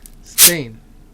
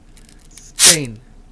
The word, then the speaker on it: steen: Double E is pronounced a in a closed syllable like in the example word zape let's practice this sound in the next word stain stain in the second case we also have the